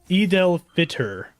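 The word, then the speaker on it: Eid al-Fitr: holiday maybe it's that oh okay eidel eidel fitter that's how you say it okay Cool.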